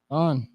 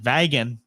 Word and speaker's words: Vaughan: I've been announcing it all damn weekend like Vagan. Nobody said a damn thing to me. Vaughn. I feel what the H is shot out. Is silent, I believe. Okay. I don't know. Yeah, you gonna say the G is too? I don't know. Whatever it is. Just the N.